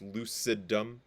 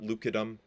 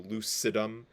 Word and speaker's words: lucidum: stratum granulosum stratum lucidum that's lucidum not lucidum that's a soft C so lucidum and stratum corneum um